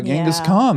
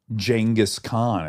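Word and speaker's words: Genghis Khan: gask Khan book and the author pronounced it jenus Khan and I I don't want that to be true but it might but that might be how you say his name jenus Khan this is like Rihanna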